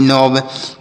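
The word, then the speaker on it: knob: है नौ मतलब घुंडी के एन ओ व नोब के एन ए सी के तो के का उच्चारण यहां पर भी नहीं होगा न से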